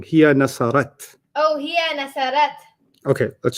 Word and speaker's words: نصرت: هي You got the ta right. You're pronouncing it wrong. Here nasarat. Oh, هي نصرت. Okay, let's start that again. Okay. And let's see if you don't say here nasarta.